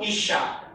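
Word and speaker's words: אִשָּׁה: Qui si legge Ish. Qui invece è scritto Isha, donna.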